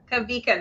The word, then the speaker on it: Kawika: So in Hawaiian, if it was a word that started with a W, like Waikiki, yeah, you say wa. Okay. But if the W happens after the first syllable, it's a V.